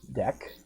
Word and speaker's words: deque: a double ended queue deck it is pronounced a deck I'm not just making